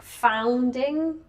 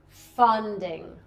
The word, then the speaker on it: funding: Yeah, you say it a lot like founding.